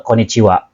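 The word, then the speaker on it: こんにちは: ini lebih mengucapkannya ke koniciwa seperti itu ya jadi asal usulnya eh partikel wa partikel H itu dibacanya wa ya seperti itu ha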